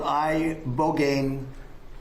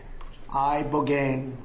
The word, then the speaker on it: Ibogaine: injuries underwent, it's called ibogaine treatment. Ibogaine. Remember the name. Is that pronounced relatively properly, would you say? Yes. I don't want to get it wrong.